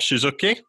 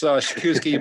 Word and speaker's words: Przykucki: of Motion Instruments, Suzuki. Got that pronunciation right there, didn't I? Is that? That's close. It's Przykucki, but it's the gift. Sorry, Przykucki, Przykucki.